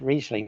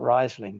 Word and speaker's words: Riesling: But in German it's the other way around. Okay, so it's Riesling, not Riesling, despite what the famous, and it's Chardonnay, not Chardonnay, despite Kath and Kim.